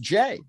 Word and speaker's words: Jai: Texas website it says J ay which is pronounced J which is fair because back when he was